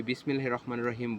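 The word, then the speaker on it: بسم الله الرحمن الرحيم: তেমনি শুদ্ধ উচ্চারণ হচ্ছে বিসমিল্লাহির রহমানির রহিমের শুদ্ধ উচ্চারণ হচ্ছে বিসমিল্লাহির রহমানির রহিম। বিসমিল্লাহির রহমানির রাহিম হবে না, এটা হচ্ছে অশুদ্ধ উচ্চারণ।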